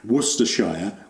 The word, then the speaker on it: Worcestershire: making so far yes a lot of folks struggle with the pronunciation or pronunciation of Worcester Worcestershire Worcestershire sauce it's like Oxford Oxfordshire um and this is I